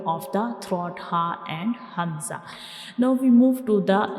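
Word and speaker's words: ء: And how we pronounce hamza? Like ha, we will read hamza, we pronounce hamza from the bottom of the throat.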